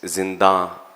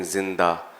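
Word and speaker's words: زندہ: So the word is zinda, and a lot of times I was hearing zinda, but I know you knew what it meant.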